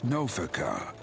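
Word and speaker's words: Nophica: However, the goddess Noaca was never one of that's how you pronounce her name children.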